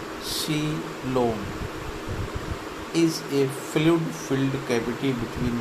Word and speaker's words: coelom: A coelom, in Greek words seal, hollow money pronounced coelom, is a fluid-filled cavity between the alimentary canal and the body wall.